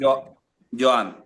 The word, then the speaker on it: Joan: You know, I want to know how do you say your name really in Spain? How they call you? Yan.